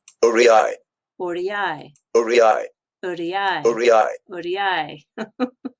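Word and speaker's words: aurei: But when it's used in the plural form, so you've got a lot of those gold coins from the Roman Empire, it's pronounced like Uriai, Uriai, uriai, Uriai, uriai.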